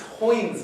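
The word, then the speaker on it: Heun: It's Hoyne's method. Apparently rhymes with coin.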